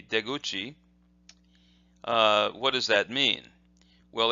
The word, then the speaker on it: deguchi: is de, and then this is guchi or kuchi, but together they would be deguchi.